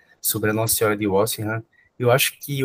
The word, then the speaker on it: Walsingham: É Walsingham, com O, né? Tipo Walsingham. E é a pronúncia mais próxima que nós temos do inglês.